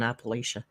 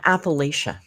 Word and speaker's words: Appalachia: that those mountains and we say Appalachia but I'm pretty sure they told us the right way to pronounce it was Appalachia you will let us know in the chat now the correct pronunciation Appalachia mountains Appalachia mountains anyway let me know I need to know inquiring minds need to know and thank you in advance short a Appalachia so it was the